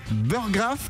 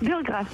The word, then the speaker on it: Burggraf: tu me dis si je me trompe dans la prononciation de ton nom, c'est Burgraff. Burgraff, tout à fait.